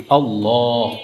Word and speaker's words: আল্লাহ: এই লামের ডান পাশে যদি জবর অথবা পেশ হয় তাহলে আল্লাহ শব্দের লামের উচ্চারণটা মোটা হয়।